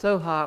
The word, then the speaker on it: Svaha: And so it begins with Om and ends with Svaha. And Svaha is sometimes pronounced Soha or Soham, and it's a little bit sort of like so be it.